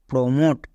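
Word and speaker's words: promote: ভট একই এরকম ভাবে আর ই রি এম ও টি ই মট রিমট পি আর ও প্রো এম ও টি ই মট প্রমোট ও টি ই পেলেই ওট এবার দেখে নেব শব্দের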